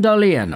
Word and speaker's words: Dahlen: ottawa senator's former draftee jonathan dalian or we can just say jonathan dahlin because that's how the anglophones over here in north america pronounce his name but dahlin is a